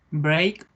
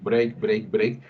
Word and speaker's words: break: como como tú pronunciadas break exacto de hecho está muy bien pronunciado pero normalmente es un break point break hombre que está haciendo la típica ere nuestra que es una re arrastrada break break no existe sonido r